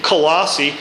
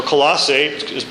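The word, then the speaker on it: Colossae: the Christians in in colassi uh or colos again we're going from one language to another and it's pronounced different ways but but often times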